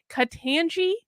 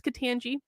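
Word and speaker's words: Ketanji: for judge oh god i'm i have to pronounce her name katanji brown jackson i think it's katangi so ted cruz today grilled her about critical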